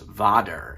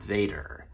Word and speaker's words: vader: even though the Dutch word for father is pronounced Vader and not Vader.